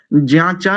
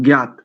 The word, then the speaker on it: ज्ञात: और यहाँ पर ज्याचा नहीं, ज्ञाता, ज्ञात एक शब्द है ना ज्ञात, जिसे आप ज्ञात बोलते हो, ज्ञात, तो वास्तव में इसका शुद्ध उच्चारण क्या करेंगे, ज्ञात, और ज्ञातात अभयम ऐसा करेंगे।